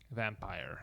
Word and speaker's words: Vampyr: VAMPYR. Vampire. Vampire.